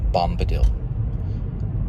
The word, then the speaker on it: Bombadil: Think of dill pickle, and you might get it.